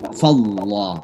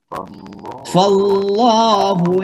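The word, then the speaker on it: فالله: Kapan dibaca tebal? Kalau kata Allah itu didahului oleh baris fathah atau dhammah. Jadi misalnya di sini fathah, fa, itu kan fathah. Maka bacanya apa? Fallah, tebal, ya, dibaca tebal.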